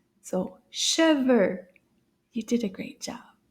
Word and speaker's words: cheveux: Cheveux.